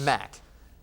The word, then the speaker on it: Mac: So Mac Wilson, Mac Wilson, Mac or Max? Mac, M-A-C.